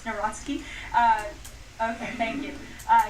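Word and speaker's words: Nawrocki: He met with Carol Nari, if I'm pronouncing that correctly. Yes, Naraski.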